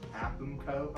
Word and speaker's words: Aapmco: The acronym for the business is technically pronounced Aapmco. Okay. If anybody ever wants to say it. Yeah. Aapmco.